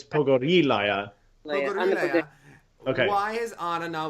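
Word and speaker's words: Pogorilaya: differently okay so she how do you pronounce is it Pogo relay are you because I okay over her a liar but it's poco de liya okay why is honor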